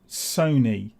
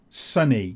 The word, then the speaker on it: Sony: Sony yeah I had one guy come on and say it's Sony not sunny you didn't even say